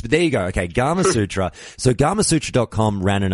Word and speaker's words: Gamasutra: always get this one is it gamer Sutra I'm presuming how it's pronounced it's actually Gamasutra by everyone everyone perhaps at their own way and that's part of the fun well that's what I thought because obviously you think Kama Sutra that that would flow